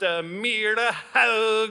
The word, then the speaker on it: Myrehaug: It's actually pronounced Myrehaug is my name.